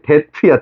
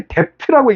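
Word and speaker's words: debt: 이거 발음 알려 줄게. 데트야. 데트 오케이. 데트 아니야. 비무음이야. 알았어. 아, 왜 이렇게 댑트라고 읽는지.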